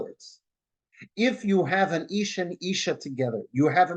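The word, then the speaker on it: אישה: put it together right ish and Isha they sound the same the difference between them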